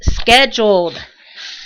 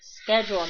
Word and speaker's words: scheduled: He says scheduled, corrects him. And I am like cracking up laughing. It's like, yeah, it's scheduled, not scheduled, or however they pronounce it.